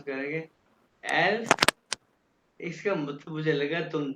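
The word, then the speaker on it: elf: good good अब ये देखो 11 को कैसे प्रोनाउंस करेंगे एल्फ इसका मतलब मुझे लगा तुम दोनों को ये काउंट पहले आते देख ऐसे ही है ना जी सर हां देखा ना एलफ 11 आ गया और ये भी एस के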